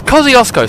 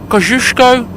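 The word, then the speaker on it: Kościuszko: doing it oh yes Kiosco sounds very Australian kushko is the actual polish pronunciation in Polish you get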